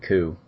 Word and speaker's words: Coup: to check out those two games, Resistance and Coup, C O U P, it's definitely spelled with a P at the end. I I believe it's it's pronounced coupe.